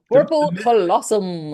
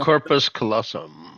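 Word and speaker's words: corpus callosum: my anatomy here but the corpal how do you say that corp corpal colossum Corpus colossum oh I forgot my S there comes the master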